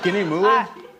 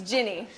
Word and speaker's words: Jinny: Next up is Guinea here. Guinea. It's Jinny. Oh, Jimmy. But that's a boy's name. This is America. No, no, it's it's Jinny. Like like Jennifer.